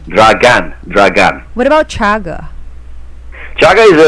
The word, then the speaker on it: Dragan: I like the way how to pronounce your name, Chaga Dragan.